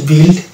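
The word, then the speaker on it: build: এই যে এই শব্দটা হচ্ছে বিল্ড, এখানে ইউ আই আছে, এখানে ইউ কিন্তু সাইলেন্ট হচ্ছে এবং এটা হচ্ছে বিল্ড।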